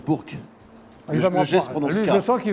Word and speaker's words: Bourg: tes parents à Bour enbise pour Bour on prononce Bourk il lui je sens qu'il va me reprend